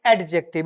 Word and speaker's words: adjective: इट इज नॉट एडजेक्टिव। इट इज एडजेक्टिव। क्या है? एडजेक्टिव। ठीक है? टी यहां पर साइलेंट है। एडजेक्टिव और ए को ए नहीं पढ़ते।